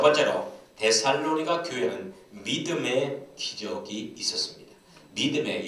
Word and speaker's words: 데살로니가: 첫 번째로 데살로니가 교회는 믿음의 기적이 있었습니다. 믿음의 역사가 풍성했습니다. 데살로니가 지역은 전형적인 헬라 지역입니다. 이성적이고 합리적인 문화가 지배하는 철학적인 중심 도시가 데살로니가입니다. 정확한 발음은 데살로니가. 예, 정확한 발음은 데살로니가입니다.